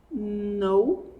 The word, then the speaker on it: know: aqui você pronuncia não esse k do começo é mudo completamente mudo Então você vai falar no no and primeiro verbo que